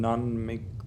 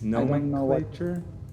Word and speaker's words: nomenclature: non make lecture no nom culture no nom culture what no how do you say that word wait uh do you need to type it for me nomenclature uh nomenclature yeah nomenclature non-picture is a term